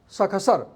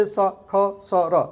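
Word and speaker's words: शषसर्: Sakasar. Don't say sakasara. No. Say it sakasar.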